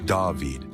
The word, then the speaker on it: David: Another place that's getting more attention is David, pronounced Daveid.